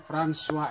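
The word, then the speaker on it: François: ya Pak ya makanya namanya tulisannya Francois emile vanderwijk Oh Tapi bacanya franswa Emil vanderlinde Naswa tersebut adalah bahasa dari Perancis ia karena dari nenek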